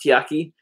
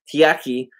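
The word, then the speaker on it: Takeya: coffee, and this Tiaki, I think it's called, pronounced Tiaki. It's a T-A-K-E-Y-A, Tiaki, cold brew thingamajig.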